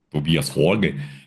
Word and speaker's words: Tobias Forge: Falaram como a pronúncia é correta. Tobias Forge.